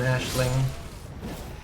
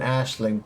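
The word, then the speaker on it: Aisling: Ember and Yume and Blythe and Minu and Ashling.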